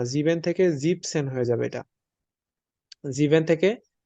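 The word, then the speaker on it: siebzehn: 17 কে আমরা বলব জিপসেন জিবেন হবে না এখানে জিপসেন হবে ই এন টা হবে না জিপ সেন বাংলাতে আমি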